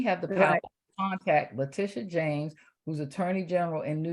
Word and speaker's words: Letitia James: Is it pronounced LaToya? LaToya? How you say it? Letitia James.